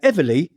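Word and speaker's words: EVALI: said earlier called EV it's spelled e v a l i now Ely is a severe lung disease caused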